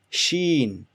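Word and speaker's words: شين: Next we have ish, right here, this one, sheen. Sheen is very straightforward, easy, just like English. It's a combination of S and H, like Sean. When you say Sean or shampoo, it's that sound, shaw, sheen.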